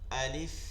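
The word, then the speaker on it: ألف: দেখেন লাম এবং ফায়ের মধ্যে কোনো ইয়া নাই, লাম এবং ফায়ের যদি উচ্চারণের মধ্যে দেখেন কোনো ইয়া নেই।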